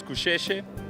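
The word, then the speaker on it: Gusheshe: she Keshi Keshi Keshi Keshi so the correct pronunciation is coucher what is that so cliche it's like an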